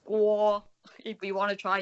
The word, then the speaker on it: Kuo: So it sounds kind of like a G. Guo.